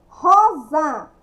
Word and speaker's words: Rosa: Rosa. Rosa, sim, escrevo com S, mas pronuncia com Z.